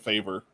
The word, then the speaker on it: Favre: They said Brett Favre. Yeah. Favre.